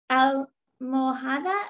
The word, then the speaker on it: almohada: Almohada está. La almo, and the H is silent, like hola, almohada.